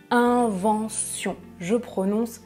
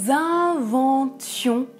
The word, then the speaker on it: inventions: je prononce invention mais quand il s'agit du verbe à l'imparfait je prononce nous inventions c'est le verbe inventer nous étions nous inventions c'est de l'imparfait ça va ?